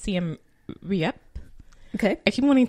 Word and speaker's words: Siem: and see I'm and I believe it is pronounced see him yeah okay if you